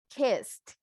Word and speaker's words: kissed: Correct pronunciation, looked. Correct pronunciation for the second one, kissed. With T. ed sound like a T.